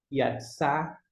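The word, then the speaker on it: יצא: O Aleph é mudo, não pronuncia. Yatsá, a ideia de sair.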